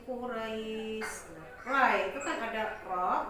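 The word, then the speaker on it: قريش: Maka membacanya harus li'ilafi Quraish. Ra itu kan ada ro berharakat fathah, kemudian diikuti oleh huruf ya berharakat sukun. Nah, jadi membacanya harus lembut. Li'ilafi Quraish.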